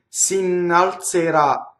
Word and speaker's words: s'innalzerà: Now the Z is a TZ in this case. The E is closed because where's the accent? It's on the final syllable, right? S'innalzerà. So we know that all of the E's and O's are closed in this word.